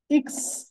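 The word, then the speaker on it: Ix: same ওয়েতে দেখেন এখানে এক্স এর যে উচ্চারণ সেটা হচ্ছে কি ইক্স ইক্স এরকম টাইপের একবার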